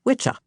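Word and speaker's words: wicce: Witch w comes from witchah, wi ce, pronounced witchah.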